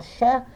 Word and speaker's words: Sheikh: Se escreve Sheikh, mas se fala Cher.